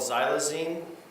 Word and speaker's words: xylazine: So my understanding one group got a drug called xylazine. Is that did I pronounce that right?